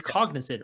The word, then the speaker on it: Cognizant: and am i saying it right cognizant it's cognizant right yeah yeah so that that will be